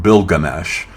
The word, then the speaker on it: Bilgamesh: We know that the Samrians pronounced it bilgamesh.